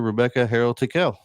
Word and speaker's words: Rebecca Harrell Tickell: So, welcome to the show with us here, Rebecca Harold Tequel. Thank you. Wow, you pronounced my name wrong.